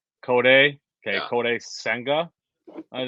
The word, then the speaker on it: Kodai: I think it's Kodai. Kodai.